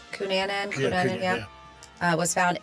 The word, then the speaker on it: Cunanan: Cunanan, yeah.